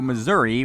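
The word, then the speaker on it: Mazuri: anyways after you go after you see a professor he gets kidnapped and you go to missouri which is pronounced uh pronounced like the state missouri uh but it's just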